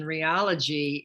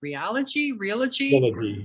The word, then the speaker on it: Realogy: mega corporation Realogy in total closed volume in 2021.